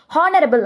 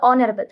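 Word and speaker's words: honorable: பேசின அந்த வீடியோல கூட ஹானரபிள் அப்படின்னு பேசியிருப்பாங்க. அது ஹா கிடையாது, அது ஆனரபிள்.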